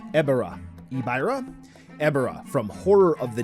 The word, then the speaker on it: Ebirah: Series figure here and ebera is awesome that's how I'm gonna pronounce it I am probably gonna hurt your ears but quite frankly it seems like everybody likes to pronounce this kaiju's name differently and uh you know based on Japanese pronunciation I guess we're all going to say it differently anyway ibra here is